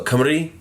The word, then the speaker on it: Cymru: In the Celtic languages, there's no soft C. So when you see the Boston Celtics, it's the only exception, except for like borrowed words from other languages. But it's always a hard C. So Cymru is the language of the Welsh, or Cymraeg I should say, and Karanos, right?